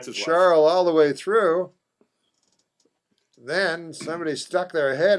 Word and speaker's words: Charl: Some people are saying Charl, not Carl. No one on TV is pronouncing it Carl.